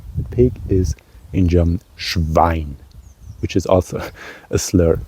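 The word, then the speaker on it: Schwein: the pig yeah the pig is in German schine which is also a slur can be of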